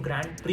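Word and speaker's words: Grand Prix: आप वर्ड को जब पढ़ेंगे तो आपको लगेगा it should be pronounced S ग्रैंड प्रिक्स। बट नहीं ये एक फ्रेंच वर्ड है। तो इस फ्रेंच वर्ड को ना हम ग्रैंड प्री अ प्रोनाउंस करते हैं।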